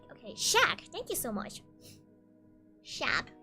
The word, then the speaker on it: Shaq: It's pronounced as Shaq. Okay, Shaq, thank you so much.